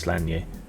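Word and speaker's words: Sláine: Yeah, I Yeah, it's meant to be pronounced Slier.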